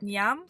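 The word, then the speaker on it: Njam: So, we just had breakfast at Nyam, which is um the South African way of saying yummy.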